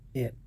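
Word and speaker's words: heir: हाँ, यहाँ पर देखिए एच यहाँ पर चुप है, ऑनेस्ट एच को छोड़ दीजिए, ऑनर, आवर, एयर।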